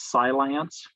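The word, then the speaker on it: Cylance: good there's carbon black there's silance which is spelled c-y-l-a-n-c-e there's crowd strike and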